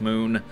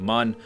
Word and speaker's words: Mun: mun or moon, and someone pointed out that on the loading screen, sometimes you'll get that crashed lander, and then it has M-U-N with an umlaut above the U, which would seem to indicate that the pronunciation should be moon.